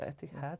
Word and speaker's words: Etihad: The Etihad.